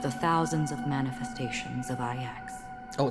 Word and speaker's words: IX: One of the thousands of manifestations of IX.